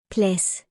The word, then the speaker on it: plads: Examples of words where D is silent when it is followed or combined by letter S are Klods. Bedst. Sidst. Plads.